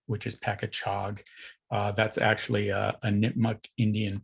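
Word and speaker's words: Pakachoag: So they changed the spelling to better reflect the proper pronunciation, which is Pacachog.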